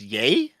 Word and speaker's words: Ye: ye only Kanye based useful big yay is pronounced yay it's pronounced yay okay yeah oh God Spooky's like I'm